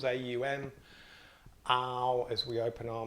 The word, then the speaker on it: Aum: by chanting on once remember on has three syllables AUM our as we open